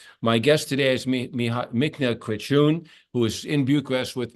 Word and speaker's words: Craciun: I'm in Bucharest, and my guest is It's Craciun, right? Yeah, Pronounced correct.